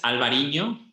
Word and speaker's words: Albariño: You have to pronounce it because I don't pronounce it correctly. So grape variety is Albariño.